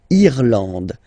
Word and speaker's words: Irlande: Remember, this is E and it should be pronounced like E. Irlande. Irlande. Okay, A-N, en, D, and final E, not pronounced.